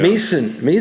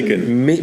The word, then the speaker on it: Macon: Mason. Macon. Macon? Yeah. Yeah, rhymes with bacon.